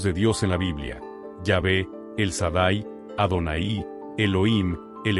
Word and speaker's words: Yahvé: El nombre más sagrado y misterioso de Dios en toda la Biblia es YHWH, pronunciado comúnmente como Yahvé.